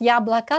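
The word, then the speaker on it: яблоко: C'est vrai qu'on prononce Yablaka, c'est pour ça ça vous fait penser à ça.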